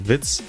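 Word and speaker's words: Witz: pun in German because in German vits as in Wiz but pronounced the same as vs in English means joke and as I'm a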